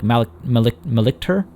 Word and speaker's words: Malictor: I think we might try to recruit some like Malictor. That's how it's pronounced.